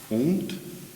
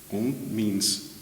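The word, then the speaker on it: ondes: this instrument is called own on means wave it's spelled o n d s on the S is silent and then usually it's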